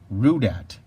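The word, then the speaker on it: Rudat: minute this is rude at rue dad is backwards here tater is his last name but rude at is spelled ru dat and I'll show you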